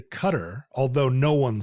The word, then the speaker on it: Qatar: for our future listeners this is another instance of a name that starts with q that does not have a u but notice we don't say quter we don't say quter we say cutter although no one says